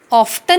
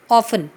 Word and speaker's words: often: ऑफ्टन नहीं बोलते इसे, ऑफन. टी साइलेंट होता है.